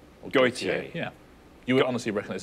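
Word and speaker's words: Gotye: Gautier. Gautier.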